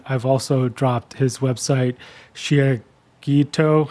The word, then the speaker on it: Shiageto: also dropped his website, Shiageto. How do you say that correctly? Shiageto. It's a Japanese word for a sharpening stone, for all those who are curious.